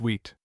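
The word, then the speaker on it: huit: Hewitt pronounced wheat.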